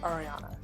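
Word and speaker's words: Aryanne: first name is ariana spelled a-r-y-a-n-n-e yes and it's pronounced ariana so i have a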